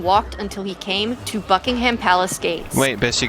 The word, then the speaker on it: Buckingham: Yeah, Buckingham. Buckingham? Okay. Americans overpronounce things all the time. You're supposed Gar- to slur it like you're drunk.